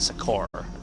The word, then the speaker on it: Succor: I'm pretty sure I mispronounced that. I think it's Infinite Succor, not Succor.